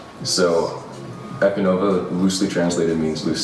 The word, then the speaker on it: Ekonovah: Yeah, it's Ekonovah.